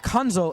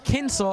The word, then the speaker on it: Kinsel: And guys, while I was in the booth, I was also informed it's not Kunzel. It's Kinsel as in a Kensel like a pencil.